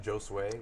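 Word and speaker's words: Josue: like it's Jore well no s w a y is sort of my way of phonetically pronouncing my name Joe sway it's pretty ball you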